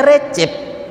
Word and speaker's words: Recep: Maka nama presidennya Recep Tayyip Erdogan, padahal Rojab Tayyip Erdogan, dibaca Recep, jim, cem.